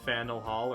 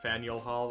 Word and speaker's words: Faneuil Hall: Should probably call it by its actual name of Faneuil Hall or Faneuil Hall. I saw two different pronunciations to avoid confusion.